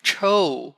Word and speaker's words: Choe: It's Choe, like Choe. Like SHOW, Choe, but this one is CHOE, Choe.